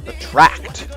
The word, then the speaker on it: attract: It's attract. The emphasis is on the second syllable.